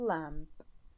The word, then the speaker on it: lamb: Rana had a little lamb. Rana had a little lamb. Little lamb يعني حمل، الحمل الخروف الصغير. فهنا راح ننطقها لام دون بي لام.